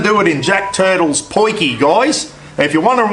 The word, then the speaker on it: potjie: it in Jack Turtles poinky guys if you're wondering what a poiki is it's not spelled that way it's p-o-t-j-i-e I think it's the